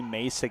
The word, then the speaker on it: Mayssa: So when I made sure to ask, she's like, "Oh, you don't have to say the middle part of my name. Just call me Mayssa."